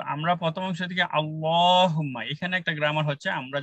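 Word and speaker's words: اللّٰهُمَّ: আসলে লামের আগের হরফে, লামের আগের হরফে যদি জবর থাকে সেক্ষেত্রে আল্লাহর উচ্চারণটা পুরো হবে, আগের হরফে যদি জের থাকে তাইলে পাতলা হবে, আগের হরফে পেশ থাকলেও পুরো হবে।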